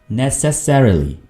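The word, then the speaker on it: necessarily: जरा गौर से सुने आमतौर पर इसको बोला जाता है नेसेसरीली नेसेसरीली ठीक है लेकिन इसकी सही प्रोनाउंसिएशन क्या होगी अच्छे वाली नेसेसरीली नेसेसरीली फिर से नेसेसरीली okay you आर अननेसेसरीली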